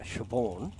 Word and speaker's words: Siobhan: Yeah, when you say, you know, like you butchered the name, you have a look at a name like Siobhan, which is, how do you spell it?